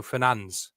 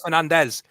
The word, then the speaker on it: Fernandes: his name is Bruno Fernandes. Fernandes? Yeah, that's how he says his name is. It's not Fernandez.